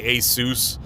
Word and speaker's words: ASUS: ASUS as some people say ASUS, some people say ASUS. I say ASUS. It's asus. I don't know.